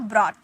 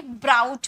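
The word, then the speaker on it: brought: Second form ब्रॉट। अब यहां पर इसे बहुत कोई ब्राउट पढ़ते हैं।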